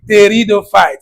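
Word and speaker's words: pteridophyte: Today we discuss the ter theido fight. The P here is silent.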